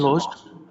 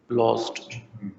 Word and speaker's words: lodged: Lodged? Lodged. लॉज्ड, Lo- लॉज्ड, लॉज्ड, Lodged. यस, Lost. Lost. Yeah, lodged. लॉज्ड, Lost. not it's Lost. lost. Lodged. You can't say lost.